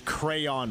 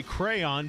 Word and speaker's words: crayon: I'm very concerned actually about how many players pronounce crayon wrong seriously it's not cray it's not Crown it's not what what are what are the